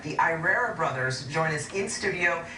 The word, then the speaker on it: Irrera: last name correctly yes i want to pronounce it just because i'm from put my webs i speak spanish but it's irera okay and it's actually italian it's italian okay right